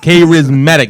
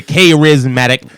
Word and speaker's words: Karizmatik: Karizmatik. That's the way the white boys say Karizmatik. It's one of your words, but you say it wrong still.